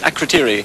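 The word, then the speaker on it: Akrotiri: Now, do I remember how to pronounce this? Akritiri.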